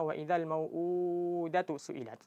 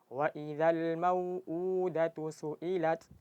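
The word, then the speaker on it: وَإِذَا الْمَوْءُودَةُ سُئِلَتْ: Jadi karena keseringan dari kita ketika membaca mad yang dua harakat itu seringnya bacanya lebih dari dua harakat. Jadi istilahnya itu attamtil namanya memanjangkan huruf di luar dari kadarnya. Jadi sering dari kita bacanya waidal mauudatu suilat. Jadi harus di harus dipanjangkan dengan dua harakat. Jadi caranya gimana? Caranya jangan terlalu dipanjangkan. Jadi kalau terasa udah cukup langsung langsung dipendekkan.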